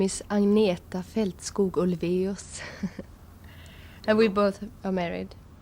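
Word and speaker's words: Agnetha Fältskog: And my name is Anieta Feltskos. And we both are married and he'll have no problem with pronouncing.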